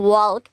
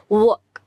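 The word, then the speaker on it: walk: এখানে ওয়াল্ক এরকম হয় যদি আমরা স্পেলিং দিয়ে প্রোনাউন্স করতে যাই এবং অনেকে এটাকে মিস প্রোনাউন্স করে ওয়াল্ক বলে বাট the pronunciation will be ওয়াক ওয়াক ওয়াক মানে এখানে কিন্তু এই যে এল যেটা আছে এটা সাইলেন্ট হয়ে যাচ্ছে ওয়েল সো নেক্সট ওয়ার্ডে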